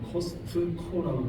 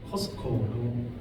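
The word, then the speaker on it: Costco: 많아요 그 예를 들서 코스트코 같은면 어 코스코 이렇게 말을 미국 사람들은 코스트 코라고 발음하지 않고 코스코 발음하는 경한 을 하고음 이렇게 송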